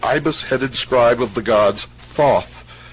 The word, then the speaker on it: Thoth: scribe of the gods Thoth, pronounced Tehooti, the so-called emerald tablet